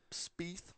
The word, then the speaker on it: Spieth: Spieth.